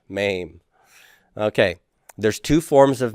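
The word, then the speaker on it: מם: the next consonant is maim everybody mame maim uh that sounds like an action where you like hurt somebody really bad mame okay there's two forms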